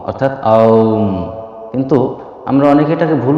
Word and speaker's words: ওঁ: একটা হলো আ, একটা হলো উ, আর একটা হলো ম। এই তিন শব্দের সমন্বয়ে এই ধ্বনিটা তৈরি। এখানে শব্দটা হলো আ উ ম, অর্থাৎ আউম।